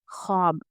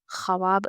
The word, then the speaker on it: ख्वाब: ख्वाब खवाब हम नहीं पढ़ेंगे। ख्वाब बोलते हैं ऐसे ही।